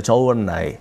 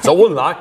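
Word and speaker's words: 周恩来: 그리고 당시 중국 외교를 총괄했던 사람이 주은래죠. 저원라이. 네. 중국 발음이 잘 안 돼서. 저원라이.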